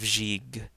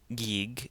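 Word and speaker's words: ϫⲓϫ: sound as in go so here we have jig jig it's not G's and it's not gig its jig and that means hand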